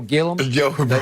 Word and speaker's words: Gilliam: Do you remember Jefferson Street, Joe Gillum? It's Gilliam, but he pronounced it Gillum.